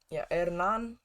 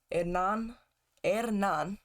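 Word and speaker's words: Hernán: look at our bench hernan it's from argentina so i'm assuming that the h is silent hernan losora losada hopefully i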